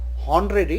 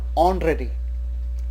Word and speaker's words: honorary: Same way, here the first alphabet is H, but it is not called honorary, it is called honorary. So starts with O, and so we use N.